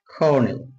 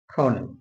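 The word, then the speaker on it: colonel: উচ্চারণটা খয়ে করব আপাতত আমরা ক দিয়ে লিখতেছি উচ্চারণটা হবে খ দিয়েল বাংলা যেটাকে আমরা কর্নেল বলে থাকি কর্নেল কর্নেল ব্রিটিশ অবশ্য এই রোপলাটা দিবে না তারপর কর্নেল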